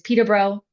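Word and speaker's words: Peterborough: So, the way that we pronounce it is Peter Bro.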